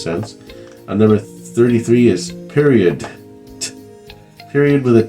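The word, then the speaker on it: periodt: to the point period I just say period I don't say the T at the end but what the t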